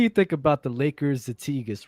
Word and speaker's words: zeitgeist: Zeitgeist means a trend, and we're not saying it correctly. It's really pronounced zeitgeist, but since that's how we said it the first time, we're gonna keep it like that.